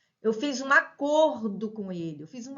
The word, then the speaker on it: acordo: é substantivo né eu acordo aperto né eu acordo cedo verbo acordar despertar tá então aqui é acordo fechado aqui acordo aberto então ó grafico igual